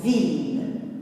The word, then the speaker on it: ville: Parfois, exceptionnellement, le I se lit il. Par exemple, on dit la ville. Ville, ça s'écrit avec I2L, mais on entend il, la ville.